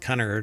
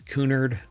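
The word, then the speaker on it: Cunard: I don't think it's pronounced Connor, right? It's Coonard.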